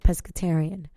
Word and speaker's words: pescetarian: i a n nonetheless if it's spelled with an a or spells with this e it's pronounced the same and they both mean the same thing right pescetarian um so fun fact